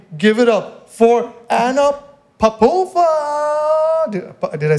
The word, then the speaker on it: Popova: The one and only, give it up for Anna Popova. Did I say it right? Popova?